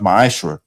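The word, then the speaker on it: מעשר: Tithes, which is a commandment, you can find as the numbers 1821, Malachi 3, 8 through 10, means 10th in Hebrew and is pronounced ma'ashra.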